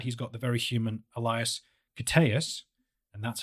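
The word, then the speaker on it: Elias Koteas: the flip side he's got the very human Elias cus and that's how you pronounce his name should you ever you know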